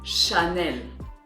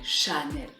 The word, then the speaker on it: Chanel: The next one is Chanel. And the French way of saying it would be Chanel, with a very open A, Chanel.